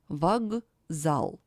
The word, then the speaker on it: вокзал: For example, вокзал. It is pronounced as вокзал. The voiceless K stands before a voiced Z. That's why it is changed in voiced pair G.